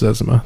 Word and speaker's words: Zezima: It's pronounced Zezima.